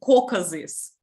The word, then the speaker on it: Caucasus: The perfect mountains on Kafkas are a more popular place for tourists. Yes, and we pronounce it Caucasus.